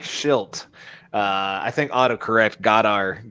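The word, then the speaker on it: Shildt: or something like it it's pronounced different uh hold on like shilt uh i think autocorrect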